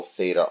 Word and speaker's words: theta: surface at an angle theta R where theta I is equal to theta R for those of you maybe can't hear exactly the the way you pronounced this symbol is Theta and it's spelled at